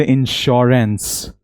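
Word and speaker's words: insurance: हम ऐसे नहीं बोलते इंश्योरेंस, ये इनकरेक्ट इंग्लिश है। 90% लोग इसे गलत प्रोनाउंस करते हैं।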